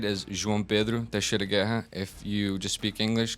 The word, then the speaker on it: João Pedro Teixeira Guerra: My name, if you can pronounce it right, is João Pedro Teixeira Guerra.